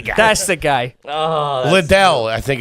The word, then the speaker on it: Lidl: Oh, Liddell, I think it's called, or something Lidl. like that. I think it's Lidl. I think, It's pronounced Lidl.